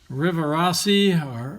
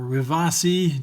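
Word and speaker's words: Rivarossi: little metal frames here these are river assi or Revathi depending on how you want to pronounce it these are made in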